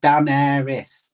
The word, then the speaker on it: Daenerys: Pronounced Daenerys.